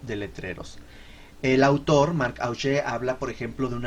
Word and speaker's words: Augé: Hay un concepto que acuña un pensador francés llamado Marc Augé, Augé con UE y acento en la E, Augé, que habla de los no lugares.